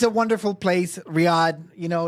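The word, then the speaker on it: Riyadh: I mean, uh and it's pronounced Riad. Riyad.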